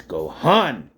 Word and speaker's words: Gohan: It's Gohan.